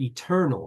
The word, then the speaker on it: eternal: 3, four, right here, the lexical accent when you say the word eternal is on the second syllable, eternal, right?